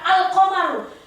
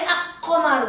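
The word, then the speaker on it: القمر: Huruf setelah alif lam harus jelas dibaca. Al-qamaru, nggak boleh ak-qamaru, nggak boleh. Al-nya harus jelas.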